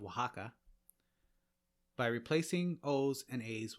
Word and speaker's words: Oaxaca: to the english x it can also take on an s sound or an h sound as with the mexican state of oaxaca by replacing o's and